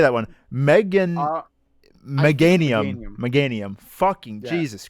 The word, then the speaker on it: Meganium: Meganania. How do you say that one? Meganium.